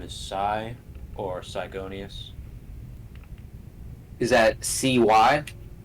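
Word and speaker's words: Psygonius: The Mage General's name is Psy or Sigonius. Is that CY? It's a PSI or PSY, whatever you want to put it. Gonius. I'm gonna spell it like that, like gaseous, but gonius.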